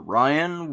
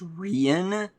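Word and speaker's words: Ryin: went behind the ranger ryan which is spelled r-y-i-n and i spent a few years thinking it was pronounced rhian but also the barbarian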